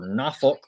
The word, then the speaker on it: Norfolk: Troy travels to Norfolk or Nafolk if you locals say it, uh, to take on ODU Thursday.